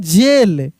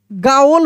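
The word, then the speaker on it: gaol: जैसे अगर लिखा रहे जी ए ओ एल अब आपके अनुसार इसको क्या पढ़ेंगे? आप जब इसको पढ़ेंगे तो बिल्कुल गलत प्रोनाउंसिएशन आप कर देंगे। इसको पढ़ते हम लोग याद रखिएगा इसको हम लोग पढ़ते हैं जेल। क्या पढ़ेंगे? इसको हम लोग जेल पढ़ेंगे। अब बोलेंगे सर यहां पे गाओल पढ़ सकते हैं।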